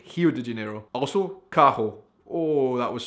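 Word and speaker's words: Rio de Janeiro: anybody not from Brazil you do not say Rio de janeo like that you say it like hi de janeo also Kaho oh that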